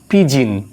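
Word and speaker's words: pigeon: আসলে এটা পিজিয়ন না, পিজিন, PIPGEON, জিন, পিজিন। এখানে লেটার ও, এটা উচ্চারণ হবে না, এটা সাইলেন্ট হয়ে যাবে লেটার ও।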